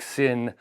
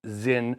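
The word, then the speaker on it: Sinn: is immediately it reminded me of, say, like Sin, and I know I'm mispronouncing that for anybody out there in the audience who likes to rag on that. Yes, it's Zin is how you would pronounce it.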